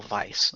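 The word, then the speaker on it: Weisz: it's it's pronounced racial Vice by the way is it pronounced Vice okay it's yeah it's w as V I think she's like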